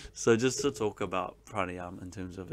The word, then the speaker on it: pranayama: have been practiced so the word pranayama or pranayama as some people say you're not supposed to pronounce the last a but it's all good